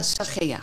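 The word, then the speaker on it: Zachea: Het zwijgen van, hoe spreek je dat uit? Maria Sagea. Maria Sagea.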